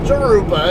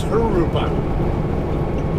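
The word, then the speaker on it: Jurupa: gonna get off here uh arupa not jeruba it's her rupa uh those of you guys who are spanish challenge the jays in spanish are pronounced like an h okay i need the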